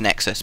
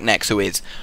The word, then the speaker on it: Nexuiz: Nexus as is words it is actually supposed to be pronounced Nexus but I like nexu is because it's fun to